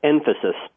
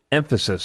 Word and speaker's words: nfasys: Pronounce that one more time. It's Emphasis. Emphasis.